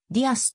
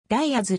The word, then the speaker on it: Diaz: 野球選手右投げ右打ち一般的にディアズはディアスと発音されるが彼の場合ダイアずと発音する 1999 年 mlb ドラフト